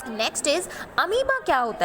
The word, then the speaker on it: अमीबा: The second one इज अमीबा and that the pronunciation is बच्चा अमीबा। Okay, it's not amoeba, it's अमीबा।